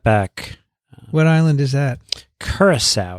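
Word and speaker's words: Curaçao: Curacao. It's in the Dutch Curacao, Antilles. yes. Curacao, we've heard. a Am I big- pronouncing it correctly?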